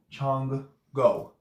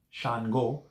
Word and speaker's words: Shango: like Chun go so that's what it actually sounds like Chong Chong go chongwu when you're saying it nonchalantly overground Chango even if it's this one Shango so yes you can't say Shan Shan go Shango but when you when